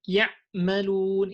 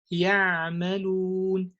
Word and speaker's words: يعملون: And you would say something like ya'malun. It's not ya, it's ya'malun. Do you see this this sound of ya'malun?